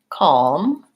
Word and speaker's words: calm: can talk today about there are a lot of words like for example salmon or calm where I don't pronounce any L for those it does